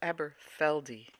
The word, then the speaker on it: Aberfeldy: that this is nice what is it scotch aberfeldy it's pronounced eberfeldi Highland single malt yes Highland it's not really